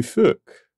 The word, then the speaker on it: phoque: Well, unfortunately, in English, it's very similar to a rather intense profanity. French word for seal is le phoque.